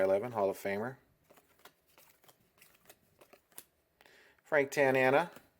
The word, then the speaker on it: Tanana: Hall of Famer Frank Tanana like his last name it's fun to say rhymes with banana Chris Sabo his obnoxious